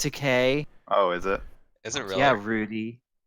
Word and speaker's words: Takei: to okay it's pronounced Takei oh is it Rudy it's easy to remember cuz you just say George Takei is gay he made a video